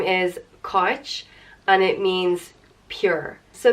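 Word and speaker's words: Cáit: itch and it's not koch it's kind of in between the two so a very subtle I sound so Koch and it's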